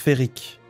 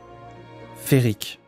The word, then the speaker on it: féerique: les cinq et demi fun fact féerique se prononcent ferrique ah bon un bon ok bah ferrique je me souvenais même